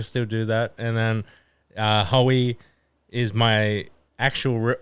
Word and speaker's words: Hoey: And then some people would call me Hooey if they don't know how to pronounce it. no, for which sure. is fine. Yeah. People still do that. And then Hoey is my actual, like, my nickname.